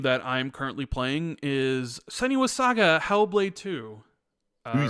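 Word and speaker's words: Senua's Saga: Hellblade II: uh the game that I'm currently playing is sunny was Saga hellblade 2 you said it right yeah I know most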